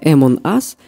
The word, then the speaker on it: Among Us: интересно но я продолжу правильно читается это м он ас и переводится как среди